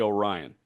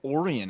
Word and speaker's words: Orion: Is it Orion Kirkering or Orian Kirkering? It has to be Orion. That's what I thought. But Peter keeps saying oran.